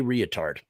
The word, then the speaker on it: Reatard: And tonight's subject is Jay Reatard. And that's the way I'm choosing to pronounce the name. I'm using the extra A in there because in today's age of political correctness, thank you for the skulls.